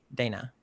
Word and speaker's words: Dana: Yes, Dana. Yeah, Dana. Yes, the American pronunciation.